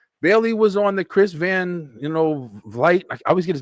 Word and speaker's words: Van Vliet: Bailey was on the Chris Van, Vliet. I always get his name wrong.